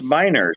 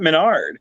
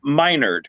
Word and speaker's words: Menard: whole time i'm like it's it's minor it's not menard so when i when i finally played the mirror universe i'm like yeah call me minerd because i'm like yeah